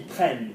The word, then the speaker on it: prennent: Go to the hard and the high. Il. Prends. Ils prennent. Remember, because it's an N. With an N, we have the hard, but we also go higher.